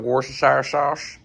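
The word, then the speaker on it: Worcestershire: A little bit of warash. That that's how you pronounce it.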